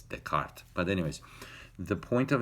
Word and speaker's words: Descartes: I saw his name I pronounced the des contest but I didn't know I don't speak any French but I found out later that it's the cart but anyways the point